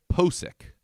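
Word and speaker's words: Pocic: I believe it's Pacic or maybe Pasic, one or or the something. other. It's something like that. You know what? Put the pronunciation right here, editor Tony. Ethan Posick. Posick.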